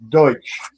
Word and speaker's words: Deutsch: Is it Are you saying Dutch land or Deutsch? Deutsch. Deutsch. Okay. D. Yeah. It's spelled D E U T C H.